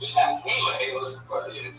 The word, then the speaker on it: Chaliss: It's spelled CHALISS. So I said Chaylis. Yeah. And it is Chaylis.